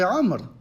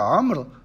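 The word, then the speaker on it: عمرو: Ils ont rajouté un Waw pour le différencier de Omar, pourtant ce Waw ne se prononce pas.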